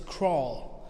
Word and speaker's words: crawl: an o sound and read it like k r o l repeat after me crawl